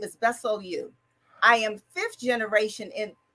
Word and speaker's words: Bessellieu: my first name is italian if if you pronounce it properly it's my middle name is my last name is bessel you i am fifth generation in in the united